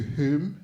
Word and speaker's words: whom: And then Lily said, to whom it may concern. Did you know that whom is spelled with a W? I didn't. Lily said the W's silent. I mean, that W's not silent.